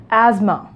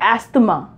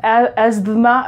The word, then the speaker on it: asthma: pronounce it why because you just have to make these two letters silent and you will pronounce them like asthma asthma it is not a steamer it is most asthma or any other sounds